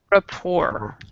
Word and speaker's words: rapport: here they were building report report report so the T even though it's there it is silent I have no idea why it's there but it's there so in your countries